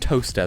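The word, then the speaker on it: Towcester: you get to England and then you have Lester and and um Bicester and toester no leester bister and toaster that's beautiful g hav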